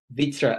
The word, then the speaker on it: Wittra: victor actually stand for well vitra is actually an ancient swedish word which is normally spelt with a v and it has a